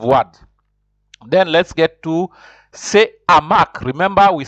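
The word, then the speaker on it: ce hamac: Then let's get to say hamac. Remember, we said hamac. Say hamac. We said hamac. The H is considered not silent. It is aspiré, so it is. You'll say hamac, just like say harpe.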